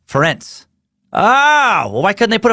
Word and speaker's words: Ferenc: It's actually pronounced like Terrence with an F, like Ferenc.